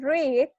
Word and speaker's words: read: combate no leyó ok recuerden que read se escribe igual verdad se escribe igual en presente y en pasado pero la pronunciación en la que cambia en presentes rig y en pasado es red como el color el